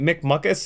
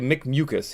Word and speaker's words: Mick Mucus: It's so I've been pronouncing it Mick Muckus. It's actually Mick Mucus. He let me know. I prefer Mick Muckus, but I'll pronounce it Mick Mucus because that's the way it should be pronounced.